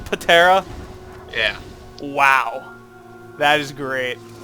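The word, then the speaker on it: Ptera: Was it spelled P-T-E-R-A? I believe it was. And she pronounced it Patera?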